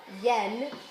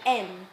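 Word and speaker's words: 円: We normally will say yen when we pronounce it with that y, but actually it's best read en.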